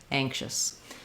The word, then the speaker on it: anxious: So it's going to be a schwa, sound like but go as quickly as you can from your SH to your S sound, shus, anxious, because that syllable is reduced and short.